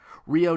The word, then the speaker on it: Ryo: Might as well take a drink how many times I've mispronounced Ryo's name. Is it Ryo? Ryo? Ryo? It's like Ryu, like Japanese.